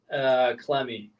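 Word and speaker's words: Clemmey: Am I going to pronounce this correctly? Clemmy? Yeah, Alex Clemmy.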